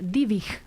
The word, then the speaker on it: Dybvig: Quiero agradecerle a Jorge Amarilla, que me dice que se pronuncia Dybvig, acento en la I, la primera, Dybvig.